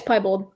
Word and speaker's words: piebald: How are you pronouncing it? Yeah, it's piebald.